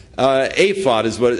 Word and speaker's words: ephod: be that Gideon's purpose in this e uh apod is what how it's actually pronounced that the purpose in the apod was uh to ascertain God's will he made